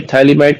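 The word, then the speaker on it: Phthalimide: उसमें बताया था कि थैलीमाइड कैसे बनता है। ठीक है? थैलीमाइड बच्चे स्पेलिंग जो है ना वो पीए से स्टार्ट होती है और पीए साइलेंट रहता है।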